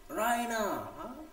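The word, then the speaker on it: Raina: রাইনা, she pronounce ইট রাইনা, দেখো একটু টেনের উচ্চারণ করলো, with that stress on দ্য ই, মানে খুব আকর্ষণীয়, খুব আবেগে বলতেছে, হ্যাঁ, রাইনা।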